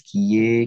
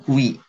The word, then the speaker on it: qui: Kemudian ki ditambah dengan verbe conjugué. Sekarang yang kedua, ke. Ini bacanya ke ya. Ini bacanya ki bukan kui ya.